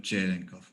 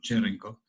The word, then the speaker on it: Cherenkov: Estoy casi seguro que la forma correcta de pronunciarlo es Cherenkov, pero bueno, tenemos el mismo problema que tuvimos con Huygens.